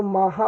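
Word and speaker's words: Maja: ओन new born sister माजा ही वैसे तो माहा पढ़ेंगे क्योंकि जो इसका करेक्ट प्रोनंसिएशन है वो है माहा पर यहां पे माजा हम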